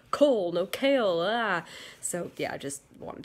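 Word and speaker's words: Chaol: whatever they call it his name is kale but it's spelled ch AOL and my brain keeps thinking it says coal but then it'll immediately jump and say no it's I think it's Kale like chaos but instead of an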